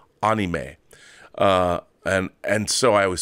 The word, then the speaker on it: anime: I know people say anime, but the actual Japanese pronunciation that I've always heard is anime.